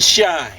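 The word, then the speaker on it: Schein: for something dig and shine shine is spelled with SCH at the beginning but it's roughly pronounced the same way as shine in English is spelled there's no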